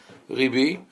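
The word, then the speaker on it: רבי: I wanted to write Ribi and not Rabbi, because this is how the Sephardic pronunciation is, Ribi.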